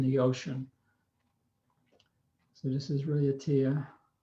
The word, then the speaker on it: Raiatea: So this is Raiatea. It's actually pronounced Raiatea.